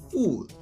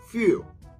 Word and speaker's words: fuel: This word should be pronounced as fuel. Therefore, you have to pronounce the fuel and in one go, no stop.